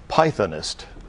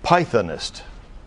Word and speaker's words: pythonist: So, Walter, if you're ready, we're going to go to your word for this round, which is pythonist. Could you repeat the word? Pythonist. Any alternate pronunciations?